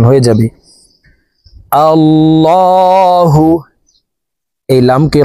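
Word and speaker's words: اللهُ: আল্লাহু এই লামকে ল বলে পড়তে হবে। কারণ আল্লাহ শব্দের আগের হারফে জবর হইলে এই লামকে ল অর্থাৎ মোটা করিয়া পড়িতে হয়।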